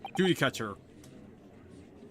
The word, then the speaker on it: judicature: Supreme Court of Judicature. Courtroom 2. So this is a courtroom. The Supreme Court of Judicature.